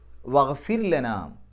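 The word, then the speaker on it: وَاغْفِرْ لَنَا: എന്നല്ല ഫിത്നത്തല്ലി ലില്ലദീന കഫറു വഹ്ഫിർലനാം വഹ്ഫിർലന എന്നുള്ളിടത്ത് റാഇന് സുക്കൂൻ വന്നു തൊട്ടുമുമ്പത്തെ അക്ഷരത്തിന് കസർ ആണ് നമ്മൾ തജ്വീദിന്റെ ക്ലാസ്സിൽ ഈ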